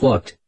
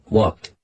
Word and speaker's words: walked: Cuando decimos walked, pronunciamos el ed como una T, walked.